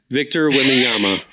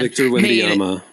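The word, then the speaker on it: Victor Wembanyama: Victor Wyama. Thank you. That man Victor Wyama made $10.1 million in his first year.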